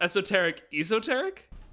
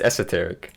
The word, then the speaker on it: esoteric: Except when you said you pronounced esoteric. That's That's right. English. You don't even have an excuse for that one. Wait, it's not esoteric? It's esoteric. Bro.